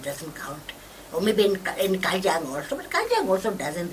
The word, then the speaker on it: Kajang: They probably can't even pronounce it, right? Kajang. They probably think it's Kachang.